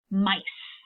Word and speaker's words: mice: I have I, and remember it has a long I sound. So in this word, the E is controlling it at the end.